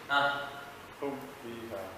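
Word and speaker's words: هم فيها: Hum fiha, because it doesn't, the rule doesn't change. Hum fiha. Hum. Hum fiha. Yes. Hum fiha. No, there is no hum. Why? There is no adding it. It's clearing the meaning. Hum fiha. Hum. No, you're saying hum. Dirhum la hum. You see how clear this is?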